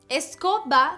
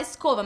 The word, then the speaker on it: escoba: Escoba se escreve com B no final, escoba. E é B mesmo, então não tem como falar escova, mas parece, né?